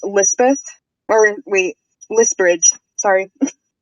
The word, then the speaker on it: Lisbridge: oh what is it it's elizabeth or wait list bridge sorry how do you spell that l-i-s-b-r-i-d-g-e it came from a name generator